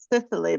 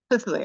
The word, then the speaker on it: Cicely: If you could help us understand the extremely complex character, I said Sicily, but am I pronouncing that correctly? Really, yeah. Cicely, okay.